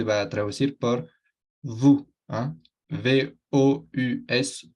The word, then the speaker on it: vous: V-O-U-S, vous. Se pronuncia como una U en español.